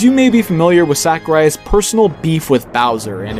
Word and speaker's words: Sakurai: A, it's pronounced as Sakurai, not Sakurai.